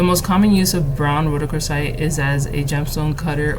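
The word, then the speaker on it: rhodochrosite: lizard okay Road yeah Roc crite I'm probably still saying it wrong r h o d o c HR oite rooc crite Roc crite that's what it is and its uses are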